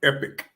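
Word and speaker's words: Epik: Yeah, Melody, and his son is named Epic, but it's spelled E-P-I-K.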